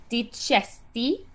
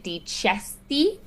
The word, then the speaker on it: dicesti: Um, that C is going to be the CH sound, ch. And why is it that CH sound? Well, it's alone, so it's going to be different than like the bocca, but also it's the vowel that follows it, that E afterwards. So chesti.